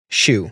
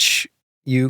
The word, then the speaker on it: Xu: pronouncing your name right Shu right like sh sh U kind of you can spend like